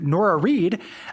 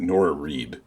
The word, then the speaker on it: Nora Reed: This episode, I want to give a shout out to Nora Reed, an online friend of both Kay and I's, who makes jewelry. So rhymes with florist, and Nora Reed uses they, them pronouns.